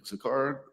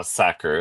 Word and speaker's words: Sakr: This is Sakar. I don't I think I did I butcher your last name. I just know Did I say it right? Uh Sakur. It's fine.